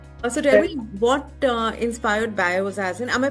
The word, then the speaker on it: Biozazen: So tell me, what inspired Biozazen? Am I pronouncing it right? It's Biozazen? Yeah, it's Biozazen.